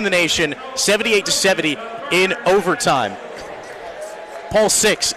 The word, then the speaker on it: Paul VI: nation 78-70 in overtime Paul 6 excuse me web Wellman giving me the correct pronunciation and correction there as those the